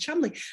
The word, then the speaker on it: Cholmondeley: Or Chumley, right? That word Cholmondeley that it looks like is actually pronounced Chumley.